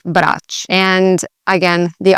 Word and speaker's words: Brač: So that's how you'd read it in English, and that's totally okay. In Croatian, this letter actually sounds like a CH sound. So ch, so Brač. That's how that island would sound, Brač.